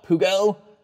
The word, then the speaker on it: Peugeot: You guys like to correct me on my pronunciation. It's Renault Peugeot and Volvo. Can't really mess up Volvo, I guess.